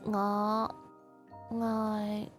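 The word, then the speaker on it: 愛你: If you want to say I love you, then it's "Aw, ngài."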